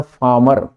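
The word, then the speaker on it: farmer: है ड every फार्मर इसका एक्चुअल जो एक्सेंट है वो है फार्मर नॉट फार्मर वॉबल के बाद वॉबल के बाद आर हमेशा साइलेंट रहता है तो डज एवरी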